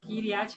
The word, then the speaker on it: Kiryat Gat: Do jeito que lê, fala. Kiryat Gat.